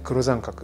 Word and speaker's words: 黒桟革: これ黒三角、黒い桟橋の桟に革と書いて黒三角と呼ぶんですが